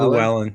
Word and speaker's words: Llewellyn: It's basically Llewellyn.